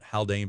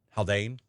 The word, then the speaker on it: Haldane: Haldane, not Haldane, but Haldane.